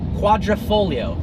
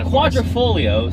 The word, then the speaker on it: quadrifoglio: ever seen as American quadrifoglio stance whereas he said four leaf clover and it's pronounced like it's spelled if you took out the gee I don't know why